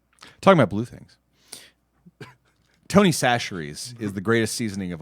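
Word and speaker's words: Chachere's: Tony Sacheries is the greatest seasoning of all time. Now, a lot of people mispronounce it as chacheries, but you can go find it in your local store.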